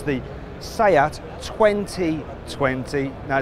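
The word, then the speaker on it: 20V20: one it's the sayat 2020 now it's written 20 v20 don't pronounce the V because it stands for vision which relates to the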